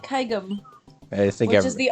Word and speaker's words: kaigem: If I remember correctly, it is kaigem, as in gem, for the... I've always said it like kaigem, I think which is the opposite of how I pronounce GIF.